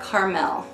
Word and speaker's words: Carmel: I mean, The first few times I read that, I was pronouncing it sweet caramel sundae, but it's for Carmel.